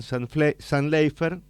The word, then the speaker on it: Zantleifer: en el estudio a Diego y a Julián San Leifer. Está bien pronunciado.